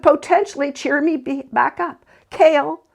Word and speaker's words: Kale: Cale, pronounced Cale, yet nothing like the vegetable, has coffee-colored eyes and smooth maple skin.